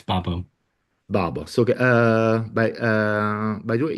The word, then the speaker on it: Babo: Did I pronounce that well? yeah, it's Babo.